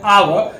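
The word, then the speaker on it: hour: एन का यूज करते हैं, ए का यूज नहीं करते हैं क्योंकि इसका प्रोनाउंसिएशन जो हो रहा है आवर, तो आवर जो हो रहा है वहां पे हम लोग क्या करते हैं?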